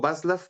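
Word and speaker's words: Václav: también por ejemplo vaslafnoiman y digo vaslaf porque luego gente que sabe de ese idioma me ha dicho que la c en algunos casos suena como ese o como tú lo dijiste Ahorita como como j y ahí tenemos justamente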